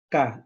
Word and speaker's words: Ka: En egipcio se pronunciaba Ka, el Ka, ¿no? Una K y una A, el Ka.